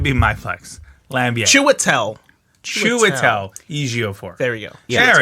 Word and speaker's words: Ejiofor: Chitwell Ejiofor? Chiwelte Ejiofor. Ejiofor. Yes, thank you. I still can't do it, but Christopher Lambier, that could be my flex. Lambier. Chiwetel Ejiofor.